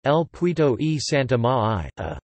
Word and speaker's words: El Puerto de Santa María: El Puerto de Santa María, Spanish pronunciation, El Puerto y Santa Ma'ai, the Port of St.